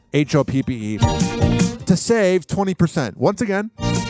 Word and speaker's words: Hoppe: Some people spell it Hoppy, but it's Hoppe to save 20%.